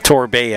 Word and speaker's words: Torbay: Torby back with it. Torbay, I should say. That's how it's pronounced, Torbay.